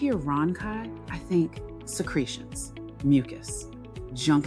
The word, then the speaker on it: rhonchi: Pronunciation, rhonchi.